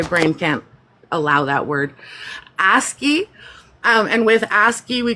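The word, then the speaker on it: ASCII: Aski. ASI. My brain can't allow that word. Asky.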